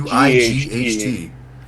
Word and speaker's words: Wight: White Power, yeah, but it's spelled But with the Wight. Like tight.